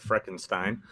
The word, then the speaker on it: Frickenstein: Frickenstein here, pronounced. Okay, Frickenstein. Just like Frankenstein.